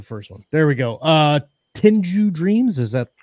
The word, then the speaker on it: Tengu: Tenju Dreams, is that how you pronounce Tengu?